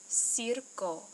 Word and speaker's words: circo: Okay, it's pronounced circo, circo. Okay, circo uses one soft sound, si, and one hard sound, co, circo.